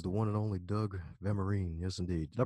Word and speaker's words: Vermeeren: Check out his YouTube channel as well as his name, which is the one and only Doug Vermeeren. Yes, indeed. Did I pronounce that correctly the second time? Vermeeren, but that's all.